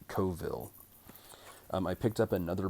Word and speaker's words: Coville: alien by Bruce Coville some people pronounce his last name Cavill I grew up calling him Bruce Coville um I picked up